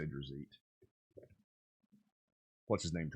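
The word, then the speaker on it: Drizzt: This Drazit is awesome. Or Dritz, however you want to say it. I say Drazit.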